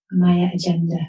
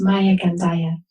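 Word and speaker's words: Maya Gandaia: then i'll spell it people keep on calling it my agenda which i love it's maya gandaya so that's maya m-a-y-a and then gandaya which is actually portuguese for joy g-a-n-d-a-i-a-dot-com great and we'll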